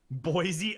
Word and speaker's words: Boise: pronounce that? They would. Boise. It's Boise.